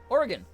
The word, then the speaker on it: Oregon: Oregon. There we go. Yeah, okay, that one felt better. So I did say it right the first time. Damn. Oregon.